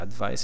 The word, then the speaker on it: advice: So let's ask some help to the advice help here. Five cent the doctor is in. Let's go. Like advice. Okay. Advice. Sorry. This stress is the second syllable.